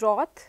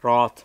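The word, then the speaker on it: wrath: then so one I could think of is Roth Roth okay anger yes which is spelled as w-r-a-t-h okay ah which is spelled as ah W or a t h Roth but ah pronounced as rock okay then another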